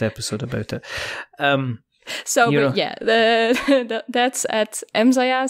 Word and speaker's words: EmmZaja: That's at EmmZaja. So that's, I pronounce it Dutch.